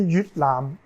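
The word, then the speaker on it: 越南: Et en cantonais, Yue se prononce Yut. Et Vietnam se dit Yut Lam.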